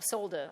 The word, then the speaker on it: solder: And then you get to solder or solder. I'm British, and I say solder because it has an L in there, but apparently, according to Americans, it's solder.